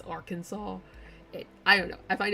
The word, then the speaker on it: Arkansas: specifically can like Arkansas they say our Kansas and they get all huffy about it when it's not our Kansas it's Arkansas I don't know I